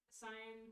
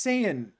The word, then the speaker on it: Saiyan: We have another Oh, we got another dono from Cyan Queen Vega. Saiyan. I always say it like the color and I get in trouble. It's not cyan, it's Saiyan.